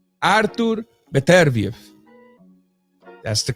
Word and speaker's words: Beterbiev: It's strictly Artur Beterbiev. Artur Beterbiev. That's the correct pronunciations of the man's name and last name, man.